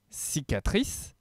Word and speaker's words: cicatrice: ce mot-là parce que on retrouve le C qui se prononce S parce qu'il y a un I après, le C qui se prononce K parce qu'il y a un A derrière, et enfin un dernier C qui se prononce S puisqu'il y a un E à la fin de ce mot.